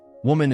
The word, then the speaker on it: woman: This one's all about those vowel sounds. Yes, woman is pronounced woman, and women is women. Note the difference.